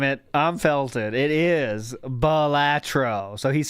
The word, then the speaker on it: Balatro: It is Balatro.